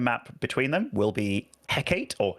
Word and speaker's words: Hecate: I say Hecate. Hecate. Hecate? Yeah. Like a name like Hegatha? I guess. Yeah, I guess so. Hecate with the different sound letters. Hecate.